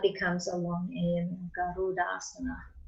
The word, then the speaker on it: Garudasana: Garuda, then asana becomes a long A in Garudasana. And I was taught first off that eagle pose was Jaryudasana. No. I know. So yeah, it's Garuda.